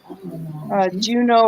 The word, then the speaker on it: Juno: Juno, I think, is a god, even though it rhymes with Uno.